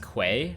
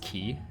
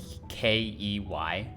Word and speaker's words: quay: is actually pronounced like it's not pronounced quay it's pronounced key like a key is